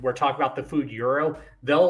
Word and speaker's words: gyro: and say it's pronounced gyro I'm like don't ever ever ever call it a gyro and they're like why I'm like it's pronounced Euro and they're like how